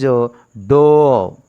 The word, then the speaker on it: dough: GH is a silent. The pronunciation is do.